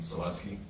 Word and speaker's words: Selesky: and that is the proper way to pronounce his name, Selesky.